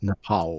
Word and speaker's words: Nepal: It's Nepal.